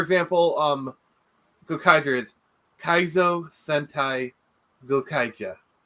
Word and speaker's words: Gokaiger: Go Sager was the one that came before it was self-contained, and Go Kaiger was well, actually it's pronounced Go Kaija. Go Kaija. I'm like that's the Japanese kind of like for example Juken Sentai Julenja.